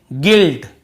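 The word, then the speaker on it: guilt: नहीं पढ़ रहे हैं फिर देखिए गिल्ट केवल जी आई एल टी यहां पर भी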